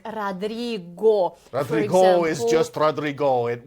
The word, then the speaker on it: Rodrigo: in English, but in Russian, I think the pronunciation was Tomaka. Да. Something like that, yeah. Yeah. And that man from Latin America, Rodrigo, always was complaining while he was here, why do they call me Rodriga?